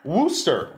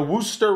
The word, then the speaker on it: Worcester: it's a new team i wouldn't worster wooser they're called the woo socks they're the wooster red socks yeah yeah it's spelled